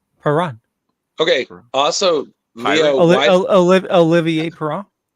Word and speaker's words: Perron: again next year, just remember the T is silent in chalet, just like Perron. Perron.